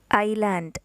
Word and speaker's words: island: Island, a piece of land surrounded by water. ISLAND, island. Here letter S is silent, so you have to pronounce island, not island.